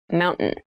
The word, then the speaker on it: mountain: you pronounce this word in fast speech it sounds like mountain the t sound is reduced the little town was